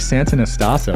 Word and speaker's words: Santonastasso: with me a legend in the building Nick Santa naso did I pronounce that right he crushed it let's go